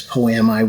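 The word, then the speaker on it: poiema: I think the Greek word, I don't know if I'm going to pronounce this right, but it's poemi, which we get the word poem.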